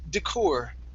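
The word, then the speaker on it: décor: This word is actually pronounced decor, as the decor inside. Decor.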